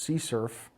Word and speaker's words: CSRF: as session writing and abbreviated as CSRF sometimes pronounced c surf or xsrf it's an